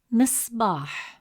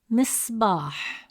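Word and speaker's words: مصباح: The sacon is placed on the letter sod. So the sound pauses briefly without a vowel. You'll notice a quick still moment right after sod. Listen and repeat after me. Missbach. Missbach. Did you catch the pause on sod?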